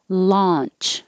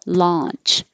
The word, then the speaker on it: launch: bronze buses ascending ascending launch with an ah launch and lunch your jaws more closed lunch i had a